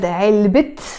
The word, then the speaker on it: علبة: Again, the word علبة on its own, it has a تاء مربوطة. You don't pronounce it. When I say علبة, box, I don't pronounce it. But in this case, I said علبة دجاج. I pronounced the T sound or the تاء مربوطة.